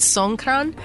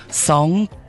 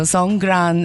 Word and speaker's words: Songkran: it's it's actually called San yeah it's a g not a k San interesting right so s Gran uh actually is a